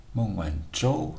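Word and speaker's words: 孟晚舟: is in Chinese is the moon one Joe mom when Joe has a moment so I think it's a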